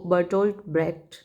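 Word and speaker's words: Bertolt Brecht: तो epic theatre का जो लीडर था वो बर्टोल्ट ब्रेक्ट, यही प्रोनाउंसिएशन है इसका।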